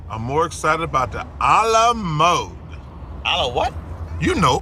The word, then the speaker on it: Alamo: I'm more excited about the a la mode. A la what? You know, the famous port that serves ice cream. Chuck, it's the Alamo, not a la mode.